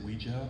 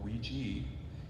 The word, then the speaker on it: Ouija: the manufacturers put on whether you pronounce it lija or Ouija it's still fun so